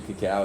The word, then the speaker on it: cacao: and or flaxseed oil, cacao or cocoa, depending on who you talk to. Cacao is usually how it's said, which is like a form of dark chocolate.